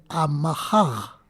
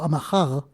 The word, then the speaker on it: Amahaj: Que de Amahaj, que es la pronunciación exacta de este tema, o sea, de esta palabra, de vocablo Amahaj, es como la R de París, Paris, que se pronuncia como una GH, Amahaj, se transformó en la J castellana.